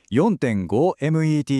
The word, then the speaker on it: METs: It's pronounced METs, and it's a universal measure of exercise intensity.